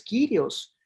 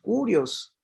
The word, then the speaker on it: Kyrios: Ustedes me pueden decir, no, pero el Señor no es curión, es Kyrios o curios, según como lo pronuncie.